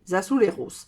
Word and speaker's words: azulejos: où on fait les azuleros. Azuleros, ça s'écrit A-Z-U-L-E-J-O-S. Alors moi, je prononce ça à l'espagnol. Je ne sais pas si en portugais, ça se dit azuleros.